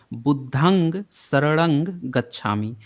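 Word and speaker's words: बुद्धं सरणं गच्छामि: सी एनआर जी देखिए यह जो शब्द है इसका एक्चुअल उच्चारण जो है वह यह है बुद्धं सरंग गच्छामि और यह पाली का शब्द है इसमें जो है बुद्धन लास्ट में जो आधा न ग का जो साउंड आ रहा है बुद्धन वह साउंड को जब आप म कर दीजिएगा हलंत के साथ बुद्धम शरणम म कर दीजिए नंग को म कर दीजिएगा तो वह संस्कृत का उच्चारण हो जाएगा तो भारत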